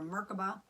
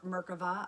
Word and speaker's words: Merkava: It's bringing more light into our Merkaba, or Merkava, I'd like to call it. That's the Hebrew, how the Hebrew pronunciation of it, the Merkava.